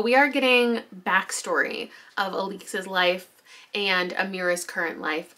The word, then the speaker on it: Alix: We've got Alix, that's how she pronounces it, the mother of the child, Briar.